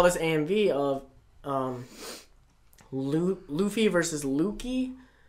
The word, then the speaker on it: Lucci: Because I saw this AMV of Luffy versus Lucky. Or Lucci? Lucci, is that how you say his name? Yeah, it's Italian.